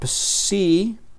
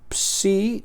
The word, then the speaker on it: psi: Y entonces esta penúltima palabra psi psi se pronuncia como Pepsi, como la combinación de letras al final de la palabra Pepsi, que es una una bebida.